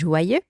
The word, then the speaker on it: joyeux: have learned to pronounce joyeux, and we have learned to pronounce anniversaire. Joyeux and anniversaire. Now, let's add our liaison, right? As I said, joyeux ends with the letter X, even if it's silent, right?